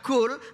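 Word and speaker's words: قُل: Kalau misalkan ini disamakan kaf dengan qaf di sini bacanya kul nanti artinya makan.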